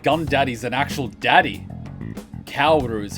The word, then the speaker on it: Kaoru: Kaoru is how it's pronounced.